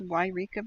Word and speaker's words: Yreka: to choose Yreka from Eureka California is pronounced Yreka by the way there is a Eureka and that's on the coast it's different so I'm going to put